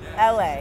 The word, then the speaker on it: ELHAE: So explain your name, LA. Yeah. It's not spelled like it sounds.